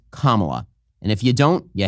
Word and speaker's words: Kamala: You're not allowed to pronounce it Camela. You're not allowed to pronounce it Camala. You're not allowed to pronounce it Kamala. It's Kamala.